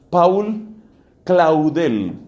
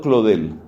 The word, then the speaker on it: Claudel: siglo 20 paul escrito paul se ha pronunciado por paul claudel pronunciado claude el paul claudel busque la